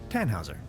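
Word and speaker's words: Tannhäuser: why what's your name tan Hauser we'd pronounce it with an umlaut German roots yes my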